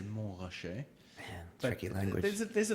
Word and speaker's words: Montrachet: People love that, and there's many different ways of pronouncing it. So if you say Montrachet, then it's a bit of an insult. You should really say Montrachet.